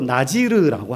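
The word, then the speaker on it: נזיר: 말은 하나님께 바쳐졌다 약속되어서 히브리어로 나지르라고 하거든요 그걸 이제 번역 과정에서 한글 음역으로 낮이를 나실인 이렇게 발음하게 된 거예요 나시를이라는 말은 나지르라는 말은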